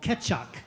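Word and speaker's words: Kecak: It's called Ketchock. Can you say ketchup? Ketchup. Not ketchup. Ketch. Ketch.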